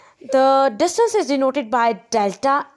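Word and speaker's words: Δ: is represented by the delta S with an arrow over it. Students, this triangle is actually a Greek letter. It is pronounced as delta.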